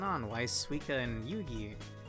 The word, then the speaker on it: Yugi: Why is Suika and Yugi? I keep wanting to pronounce it Yuji, but no, it's Yugi.